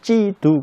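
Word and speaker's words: 基督: 그러니까 중국 사람들이 찌두 그러잖아요. 그 찌두가 뭐냐면 그리스도입니다. 그 기독을 찌두라고 읽고요. 그러니까 그리스도의 교회는 기독교입니다.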